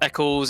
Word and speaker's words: Ec1s: I myself, I've created a YouTube channel, which is Ec1s, pronounced Ec1s.